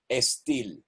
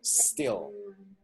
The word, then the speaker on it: still: Pay attention, lady, you pronounce estil, S. So eliminate that E at the beginning of still by prolonging a little the sound of the S. So you go like still, would still.